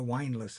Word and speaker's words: windlass: Now you know what a windlass is. A windlass. Windlass. That's how it says it's pronounced.